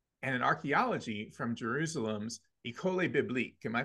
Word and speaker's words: École Biblique: Pontifical Biblical Institute, and in archaeology from Jerusalem's École Biblique. Am I pronouncing that correctly, Dom? Yeah, École Biblique.